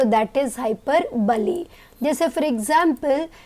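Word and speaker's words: hyperbole: अब नेक्स्ट है हाइपरबली। इसका भी कई बार प्रोनाउंसिएशन स्टूडेंट्स गलत करते हैं। This is नॉट हाइपरबोल, इट्स हाइपरबली।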